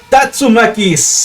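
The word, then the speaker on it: Tatsumaki: patadas giratorias tengo algunos y que la pronunciación correcta de las patadas de río las patadas helicóptero que esta venta va es tatsuma keys en turquía q suena más fácil decir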